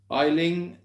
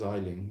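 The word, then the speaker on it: Aisling: to pronounce that name oh that's an easy one it's isling sibel islands just meant it's irish isn't it i would say it's i i would pronounce that as isling yeah love from barcelona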